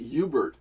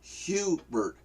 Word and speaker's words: Hubert: you they pronounce it Hubert not huge bird you see and it's blitz bloody annoying that you know what do you mean there's no H in French it's silent you know Mexicans uh